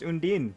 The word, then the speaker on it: Undyne: By the way, we ran the poll on the posts, and chat agrees that it is pronounced Undyne.